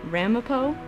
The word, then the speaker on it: Ramapo: I'm passing some place called Ramapo." Chase laughed and said, "I think they pronounce it Ramapo, like Edgar Allan Poe, but with a ram at the front."